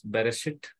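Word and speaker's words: בראשית: For example, in first verse, Bereshit, Aleph is a silent letter.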